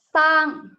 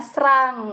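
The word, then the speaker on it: สร้าง: Itu mungkin bisa aja dibacanya serang kan. Tapi di sini menurut ketentuannya sosea sama rorea itu dibacanya S. Jadi meskipun di situ ada roreanya, tetap dibacanya sang karena mereka bergabung dan menjadi S gitu.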